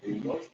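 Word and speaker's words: Inglis: De apellido Ingalls, porque eso así se pronuncia Ingalls, ¿sí? English, pero se pronuncia Ingalls, emigrada a Boston, ¿sí?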